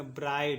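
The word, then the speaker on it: bride: इसको पढ़ेंगे ब्राइड, इसको पढ़ेंगे ब्राइड। ई का उच्चारण नहीं होगा क्योंकि क्या है लास्ट में है, ठीक है।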